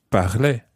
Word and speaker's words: parlait: Il parlait. Il parlait. Elle parlait. Elle parlait. Now, this sound at the end of the word sounds as if it's exactly the same for je, tu, il, and elle.